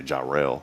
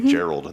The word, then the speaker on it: Jarrell: We joke around and say Jarrell. And some people say Gerald. They put a D on the end of it.